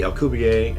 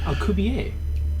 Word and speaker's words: Alcubierre: And the first part of that is the Alcubierre, and we're playing Act 1, The Lost Ship.